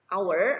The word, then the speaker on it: hour: artinya kurang atau menuju our dibacanya hour Ya hanya dihilangkan our artinya hai lalu ada